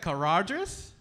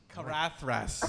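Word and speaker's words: Caradhras: Caradris? Possibly. That's not how you pronounce Carathras. Carathras.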